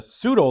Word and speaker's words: pseudo: It's a pseudo lager. Pseudo. I think the P is silent.